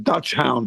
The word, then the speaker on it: dachshund: Dax Hound or something like I don't know how to pronounce it. It's German, I think. Yeah, Dutch hound is correct. You got it.